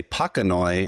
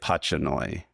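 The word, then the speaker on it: pachanoi: it's named after and pronounce it more like his name. So I do say it patchoi which some people say it differently.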